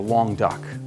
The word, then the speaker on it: Languedoc: on here Laing would die okay it's just long doc and that's or a long duck which is the way it's pronounced and this is a combination of three